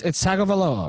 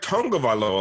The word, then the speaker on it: Tagovailoa: No, it's Tagovailoa, right? No, I thought it was like Tagovailoa, like Tagovailoa.